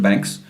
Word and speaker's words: Baanx: separate independent company called Banks, and they have the power to like expand the markets and create expand this thing. Yeah, and Banks is spelled like BAANX.